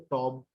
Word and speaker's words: tomb: So the right pronunciation is tomb of कायदे आजम। मैं टूम को नहीं छोड़ूंगा। अब ये टूम कैसे हुआ? टूम ऑफ कायदे आजम। अभी जो COMB कॉम एंड BOMB बॉम्ब, इसमें आखिरी का बी नहीं पढ़ा जा रहा।